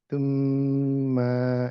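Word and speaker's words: ثُمَّ: মানে ইটস নট ত। মানে ত উচ্চারণ করলে এটা ভুল হবে। থ তুম্মা তুম্মা থ উচ্চারণ করলে মানে থ উচ্চারণ করলে পাস মার্ক পাবেন। বাট বেস্ট হচ্ছে থ এর সাথে একটু থুতু বের হয়ে যাবে। যেমন আমি তুম্মা নরমালি থ তুম্মা যখন বলি তখন কিন্তু থুতুটা বের হয় না।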